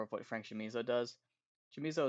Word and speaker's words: Chamizo: Chamizo is weird, and it's probably Camizo. I'm sorry, to Philippe, who's the only person who's gonna yell at me for Italian pronunciation. But he is Cuban, so I think it's both. Uh, both ways work.